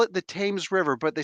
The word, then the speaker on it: Thames: Why do they call it the Thames River, but they spell it like Thames?